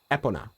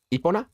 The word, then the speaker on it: Epona: You pronounce the e as an e. Epona. Epona. Epona. Eona.